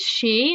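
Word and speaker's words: 四: Or four, because four in Japan is pronounced as she, and she is death, so, you know, I'm just saying.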